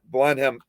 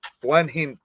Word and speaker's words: Blenheim: uh what i think i think how you pronounce this why curse place and uh blunt blenheim blenheim palace so both uh you know i i